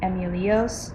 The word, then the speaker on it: EMULEOS: not out of its not wrong to pronounce my name as Emilio's that's fine too I respond to him